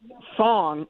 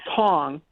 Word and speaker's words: Tong: Thong, I said his name wrong. Tong is going after Aaron Stewart.